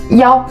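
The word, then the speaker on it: 一: Donc, i, c'est très facile de confondre avec les autres caractères. C'est pour ça, maintenant, on prononce souvent le 1. Avec les autres chiffres, on prononce yao.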